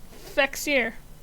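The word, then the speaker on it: Fexir: do you pronounce that Fier just an f f sound instead of a v sound yeah there you go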